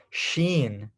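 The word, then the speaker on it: شين: three dots on top this is what we call sheen sheen spelled like that s h we n sheen sheen okay so sh putting those together Shen and we have S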